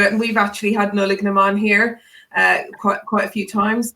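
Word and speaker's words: Nollaig na mBan: How do we pronounce that? It's Nullig Naman.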